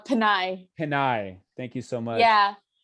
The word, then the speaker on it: Pinay: Did I pronounce the female version correctly? It's Panay. Pinay.